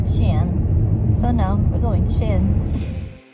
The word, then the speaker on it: Skien: properly it's not it's ki yen it's xi'an because the k is followed by letter i we had some american